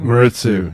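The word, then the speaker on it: Maredsous: This is, how do you say it's Maritzu? Maritzu.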